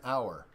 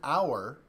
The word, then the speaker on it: hour: how it's pronounced so an hour starts not with an H but with the o so it sounds like a vowel so you use and